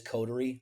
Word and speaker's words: Coterie: And you can pronounce it. It actually is codery. Um I try to be a little bit different in everything that I do. So, Cotter is just my spin on that word.